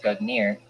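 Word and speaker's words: Gungnir: aircraft's class Nordic gognir Old Norse Governor swaying pronounced good near is the name of the mighty spirit that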